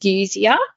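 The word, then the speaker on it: dysgeusia: successfully as well um just disia I think is the correct pron pronunciation um d y SG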